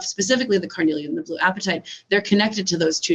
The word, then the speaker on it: apatite: It is blue, like the color blue, and then the word appetite, apatite. Okay, apatite. Okay. So a different spelling of appetite, but same pronunciation.